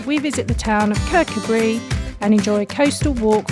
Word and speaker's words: Kirkcudbright: rockliffe morning everyone morning we are currently in kirk could bright not gonna lie i totally said it wrong in the video clip it's actually pronounced cabri and we decided to just come into town